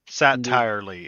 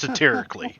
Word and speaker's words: satirically: Satirely. It's pronounced satirically, but it's basically satire.